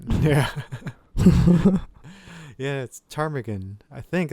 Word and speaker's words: ptarmigan: it's not yeah yeah it's ptarmigan I think it's a crime again oh the P is silent yeah I guess so